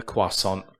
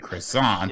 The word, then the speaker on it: croissant: Well, that's how the French say it. And it's a French word.